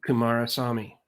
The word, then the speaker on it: Kumarasamy: linkedin is just my name so if kumar saw me and um listen to this everybody kamara saw me i said it right that's how you find